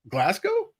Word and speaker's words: Glasgow: So David is located in, is it Glasgow? Yeah, you got that pronunciation right.